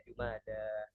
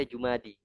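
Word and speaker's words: جمادى: Jadi itu alif makanya dibaca jumada. Tapi kalau yang menganggap itu ya dibaca jumadi. Tapi ana belum pernah dengar Jumadi.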